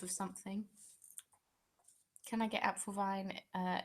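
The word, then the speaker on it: Apfelwein: a cartoon gift of something can I get app Vine uh it's not spelled like that no you can't get um it's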